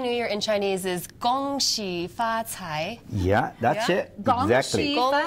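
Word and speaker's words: 恭喜发财: in Chinese Happy New Year in Chinese is gong she fats hi yeah that's it yes she fought a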